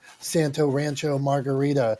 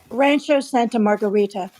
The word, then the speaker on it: Rancho Santa Margarita: and New York Pittsburgh's different than Debbie and Santo Rancho Margarita how do you say that Debbie Rancho Santa Margarita I wish I lived in a place called